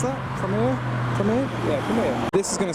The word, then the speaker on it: Primera: Did I pronounce that? Primera? Primera? Yeah, Primera.